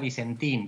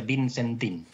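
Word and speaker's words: Vicentin: Es tan porteño que ni siquiera sabe pronunciar Vicentín, decía Vincentín. Le cuesta entender que los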